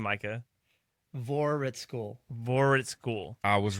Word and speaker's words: Voraritskul: V cuz I have no idea how to pronounce his last name. Give us your last name, Micah. Vorhitschool.